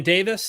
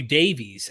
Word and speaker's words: Davis: Notice I pronounced his last name properly. Yeah, very good. I'm getting better. I'm growing. I used to call you Davies every time.